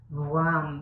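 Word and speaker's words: वं: And the mantra for this one is WAM. So it's like a combination of a W and a V. So it's WAM.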